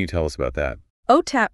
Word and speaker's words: OTAP: OTAP, pronounced OTAP, stands for the Oregon Technology Access Program.